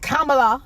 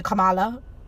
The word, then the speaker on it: Kamala: So, and Kamala Harris, and I say Kamala, yeah. Kamala. It's not Kamala. I see people saying Kamala. It's Kamala, because her Indian mother, she